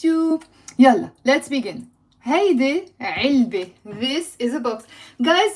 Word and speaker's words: علبة: It's not علبة, it's علبة. علبة. Okay, pronounce the عين. علبة. Box. Now, it has a silent T marbuta. So, it's the letter T, which we write and we don't pronounce.